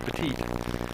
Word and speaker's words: Petit: Robert Petit. That's why they told me to pronounce it. It looks more like Pettit. They told me Petit.